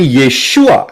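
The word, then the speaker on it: ישוע: Tetapi Yeshua itu adalah yang benar. Yod, Shin, Waw, Ayin. Dari kanan ke kiri bacanya.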